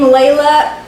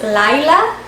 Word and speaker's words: Layla: I don't think we would use the name Layla because in Spanish it's Laila. So that sounds almost like a different name in English.